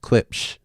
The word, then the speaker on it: Klipsch: Klipsch. That's exactly how it's spelled.